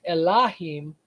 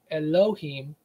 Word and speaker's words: Elohim: h I am and it would be originally pronounced elim but later on they started pronouncing it with a o sound Elohim but like I said